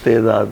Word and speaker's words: تعداد: ہاں مطلب تعداد جو لکھتے ہیں ہم، وہ اس کا صحیح تلفظ یہ تعداد ہی ہے، یعنی صحیح تلفظ تعداد ہے. عربی میں بھی عربی کا ورڈ ہے نا، یعنی تے کے نیچے کسرہ ہے.